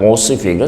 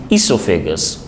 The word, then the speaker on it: esophagus: esophagus remember this word it's not ossifical versus esophagus o is silent esophagus and then stomach